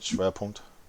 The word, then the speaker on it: Schwerpunkt: Schwerpunkt?